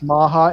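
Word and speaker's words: Macha: maha maha's platform is maha m-a-m-a-h-a sorry remember correctly it's been a long time but i think it's always supposed to been m-a-c-h-a maha which is a german pronunciation okay got it one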